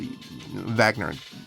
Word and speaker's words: Wagner: Reva, Rick Burquette, Matt Vagner. Okay, so we got Wagner, whatever you want to, whatever. Vagner pronounces it in German, American German.